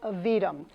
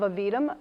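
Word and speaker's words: Aevidum: So the first good idea that I'd like to share with you is a program called Avidum. It's a very curious word. It's spelled A-E-V-I-D-U-M.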